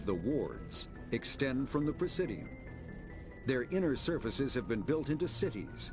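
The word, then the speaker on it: Presidium: To represent their interests, most species maintain embassies on the precidium, the Citadel's inner city. That's how you say it.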